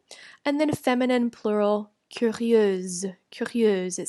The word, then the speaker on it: curieuse: I change the ending to IEUSE for the feminine form, curieuse. Now there's a Z sound at the end. Masculine plural, curieux, and then feminine plural, curieuse.